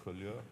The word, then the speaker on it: Collioure: Ist das richtig ausgesprochen? Collioure oder Collioure ist an der Grenze zu...